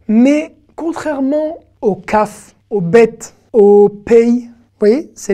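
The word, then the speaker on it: ב: Bet et Vet, c'est la même lettre, et qui va, selon la place dans le mot, se prononcer Bet, donc avoir un point, ou ne pas avoir de point, et se prononcer Vet.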